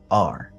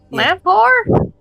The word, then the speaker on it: Lamphor: LAMPHOR. Lamphor. Lamp whore? But the PH is like F. Lamphor. Lamp whore? Lamphor. Yeah. Our Papa Lamphor. said that's a bad word. What Lamphor.